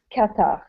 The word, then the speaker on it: Qatar: is it in is it called Kar or Qatar katar katar because I've heard but two pronunciations I've heard Kar I've heard Qatar okay katar it's inic it's qar okay yeah when IR say in English it's katar okay katar okay uh so in in Qatar